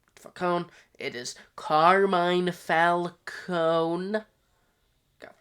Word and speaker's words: Falcone: Um there's multiple times where they in pronounce names wrong because they say Falcone. Uh which it's it's wrong. It's Falconee. Falconee.